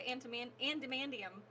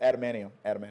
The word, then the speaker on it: adamantium: So ultimately, are the people who put the antimandium? How do you say that? Antimandium? Atamani. Now you made me mess up. Yes, Adamantium.